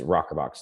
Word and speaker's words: ROKRBOX: So it's spelled a little weird, ROKRBOX. That's our branded phrase of it. But the real word is Rockerbox.